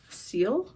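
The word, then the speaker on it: ciel: And then the dark blue is seal. I think that's how that's pronounced. It's c i e l.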